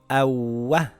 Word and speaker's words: أَوَّ: Ahha أَشَّThis reads Ashsha, Ashsha, Ashsha أَوَّThis reads Awwa, Awwa. If I take out the shadda it would read Awa. Awa. With a shadda it is Awwa, Awwa not Awa.